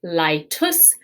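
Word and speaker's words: laetus: have the masculine form laitus and then the feminine form laita remember this ae together is pronounced i so litus and laita uh i will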